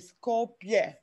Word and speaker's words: Skopje: It's spelled phonetically, so it's pronounced Kolozova, it's spelled, and the city is pronounced also phonetically, Skopje.